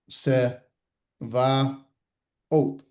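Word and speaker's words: צְבָאוֹת: So excuse me, sa, se, va, Ot. Sevaot. About. Sevaot. Sevaot. Make sense?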